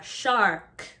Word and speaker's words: shark: Shark, shark. Make sure you emphasize the AR, shark.